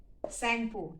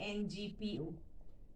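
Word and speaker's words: Tsangpo: Brahmaputra in India, in Assam, Sangpo, T is silent, T, Sangpo.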